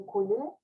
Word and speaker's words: école: Dans mon cas, il y a un parc, une école, École. Recuerda, no se pronuncia la E final. École.